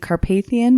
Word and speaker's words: Carpathian: I have to say though, the main reason I know how Carpathian is pronounced is probably because Vigo the Carpathian from Ghostbusters 2.